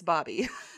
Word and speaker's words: Bobier: Also, Bobby is the person whose name looks like Bobier. Bobier. Like Bobby. So if you've been seeing that in the news, it's Bobby.